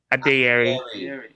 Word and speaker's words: Adeyeri: Adeyeri.